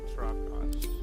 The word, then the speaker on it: Trakash: It's, Trakash. Correct. But pay attention to the trach part. Ch is back of the throat.